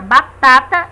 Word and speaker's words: batata: mais forte exemplos batata percebemos através da pronúncia que a sílaba mais forte da palavra batata é a segunda né Tá Caju percebemos